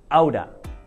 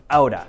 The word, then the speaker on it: out of: However, when we say out of very quickly, it sounds like outa, outa, okay?